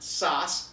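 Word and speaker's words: Saaz: The one is pronounced Sauce.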